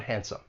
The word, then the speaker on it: handsome: So, think about the word handsome. that D, it comes between two consonants. It elides. We don't hear it with our phrase.